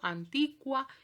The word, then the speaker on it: antiqua: Bueno, en latín eso suena, porque en castellano escribimos la U, pero esa U no suena, piensen en la palabra que, yo no digo que. Bueno, en latín diría que. Por ejemplo, antiqua y antiquus, ¿sí?